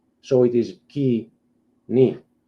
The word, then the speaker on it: Koine: So it's not coin, it is kini.